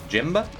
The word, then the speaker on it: Jimb: As an Eastern European, I pronounce the silent B's in words. Do you? Jimba?